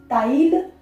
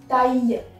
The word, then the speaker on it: taille: LL is not pronounced here. That is not taille. It's taille, which is making a sound of Y, and we are making it like this.